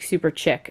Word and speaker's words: Super Chic: lacquer in zombie crush I always say it wrong and then I watched her YouTube videos and she's like super chick so super chick lacquer